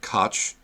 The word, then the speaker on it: Koch: they want to say every other person I've ever met pronounces that word Koch and that's what we're going to call them that is their that is